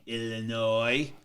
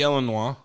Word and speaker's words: Illinois: that S is silent. Shouldn't it be Illinois? We're not French. No, it's Illinois is French. It's from the French.